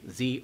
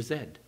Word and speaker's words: Z: those people who are pronounced differently z or zed gods so loved all